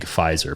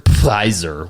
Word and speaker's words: Pfizer: single entertainment platform is a big Pfizer Pfizer with the the silent P um so kind of